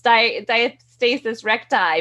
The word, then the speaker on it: diastasis recti: thank you now i know people say on diastasis recti in a whole bunch of different ways you're the doctor how do we pronounce it yeah you got it right it's diastasis recti but it's funny because i have a lot